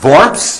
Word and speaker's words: Worms: Actually pronounced Worms, as you know.